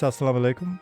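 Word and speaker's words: as-salamu alaykum: Oh, it's asalam alaikum. Okay. Ah, okay. And that explains the the a sound at the beginning.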